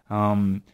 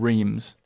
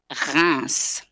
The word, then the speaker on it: Reims: And a lot of people would say it's called Reims. Yes. No. This is the kind of thing, it's impossible to know how to pronounce it if you don't know it.